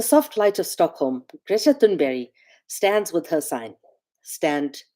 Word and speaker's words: Thunberg: Well, we pronounce her name Greta Thunberg, but in Swedish her surname is pronounced Thunberry.